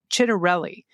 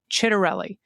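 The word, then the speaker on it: Ciattarelli: For anyone not inundated with a million campaign ads on a daily basis, the Republican candidates's last name is pronounced Chit Chitterelli. Chitterelli and the Democrat the candidates's first name is pronounced Mikey with a long I sound.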